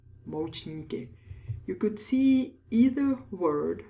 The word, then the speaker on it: Moučníky: Moučníky. Moučníky. You could see either word on a menu. Dezerty is probably more common nowadays. Moučníky is the Czech word for desserts. Moučníky.